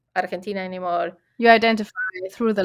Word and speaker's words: Argentina: No Argentine, no Argentine. It's Argentina. It's how we pronounce it.